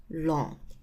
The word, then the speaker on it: ln: expressed by Ln X so this one is pronounced as long so this one is called long X so the inverse of the natural exponential